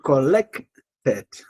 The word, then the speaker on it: collected: Collected. ¿Sí? El acento en la E.